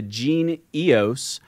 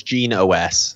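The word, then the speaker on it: Genie OS: Yeah, I believe it's Gene OS. So it has EOS in the name, but they pronounce it Gene OS, like operating system.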